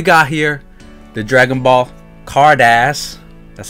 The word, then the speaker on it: Carddass: Japanese product we got here the Dragon Ball Kardash that's how you pronounce it guys not cardass cardass cardos premium set volume six so it's